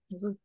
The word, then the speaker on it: Zutto: Allez, je prononce à l'italienne. Zutto.